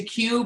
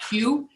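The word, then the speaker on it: Kew: certainly have been to queue but ann and carl would put their hand up in a vote for the sparklings at queue they do absolutely terrific job q is spelled k-e-w if you're looking for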